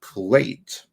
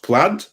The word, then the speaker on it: plaid: a new movie watch dead men don't wear plate is there a new version of that uh no is it pronounced plaid yeah why the hell is i in it